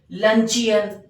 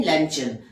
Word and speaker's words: luncheon: अब यहाँ पे कुछ लोग इसका जो प्रोनाउंसिएशन होता है वो गलत बोलते हैं, जैसे लंचियन। तो लंचियन नहीं है, ये है लंचन, द लंचन।